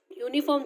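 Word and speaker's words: uniform: नाउ यूनिफॉर्म में भी यूनिफॉर्म, द यू इन यूनिफॉर्म इज रेड एज यू.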